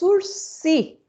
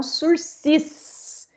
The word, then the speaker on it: sursis: da vida de vocês esse é o instituto dos ursi e não sursis jamais se escreve sursis